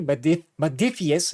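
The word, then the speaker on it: Modiphius: Yeah, all the Modifius, sorry, let me pronounce that correctly. Modifius miniature games.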